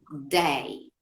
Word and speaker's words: day: Para diferenciarlo del they, la palabra día es day. La D, la lengua queda dentro, ¿sí? Sí, No sale, ¿sí?